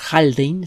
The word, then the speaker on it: Haldane: divulgador de las ciencias señor holding se escribe haldane y con h al principio hay aldany gel drink